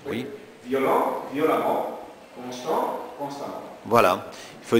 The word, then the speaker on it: violemment: et on prononce amant et on prononce ça amant hm hm ça on comme l'amant h oui violent violemment constant constamment voilà il